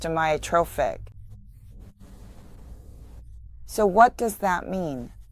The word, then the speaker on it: amyotrophic: The first word is pronounced amiotrophic.